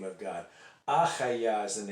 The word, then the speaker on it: Hayah: HAYAH is the name of God. There's a guy out there who says that it's Ayah, but he doesn't pronounce it that way. He says it's HAYAH.